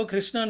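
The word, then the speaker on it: Krsnaa: ஆக்சுவலாக இதோட ஸ்பெல்லிங் என்னவோ கிருஷ்ணான்னு இருக்காது, அதாவது KRSNAன்னு இருக்கும். ஆனால் இந்த கம்பெனியே வந்து அதை கிருஷ்ணா டயக்னோஸ்டிக்ஸ் தான் ப்ரொனவுன்ஸ் பண்ணுறாங்க.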